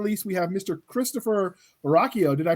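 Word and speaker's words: Ruocchio: Christopher Rocchio. Did I pronounce it right this time? You got it, man. Yeah, I'm Christopher Rocchio.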